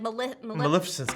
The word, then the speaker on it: Maleficent: And so like your castle would be like Maleficent's castle. Maleficent. That's how you say it. Yep. Not Melissa.